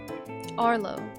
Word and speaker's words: Arlo: Dude, how do you say your name? Arlo. Arlo. That makes sense.